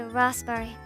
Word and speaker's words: raspberry: The P in raspberry is silent because it was apparently misspelled for centuries. It should be raspberry. We've all just been saying it wrong.